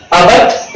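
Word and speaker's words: abut: अबट, इसका जो pronunciation जो होगा उसको अबट बोलना है, यहां ट के उच्चारण के पास पहुंचना है, लेकिन वापिस हो जाना है अबट।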